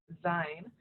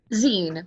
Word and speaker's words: zine: ended up finding uh zion um did i say that right jordan zine but you close up